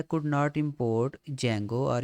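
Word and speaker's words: Django: could not कह रहा है could not import जंगो आर यू शोर इट इ installed and available on your Python ठीक है जो भी ये कह रहा है इसका मतलब ये है कि पाइथन हमने जंगो इसको सॉरी इंस्टॉल नहीं किया तो हम क्या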